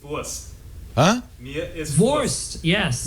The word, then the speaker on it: Wurst: It's Wurst.